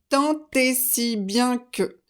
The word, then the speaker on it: tant et si bien que: pas voilà donc concentrez-vous tentez si bien que la liaison est obligatoire si vous dites tant